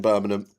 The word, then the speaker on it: Birmingham: A Londoner that now lives in Birmingham. You'll get no G's in my pronunc pronunciation of the city. It's just Birmingham and it always will be too far.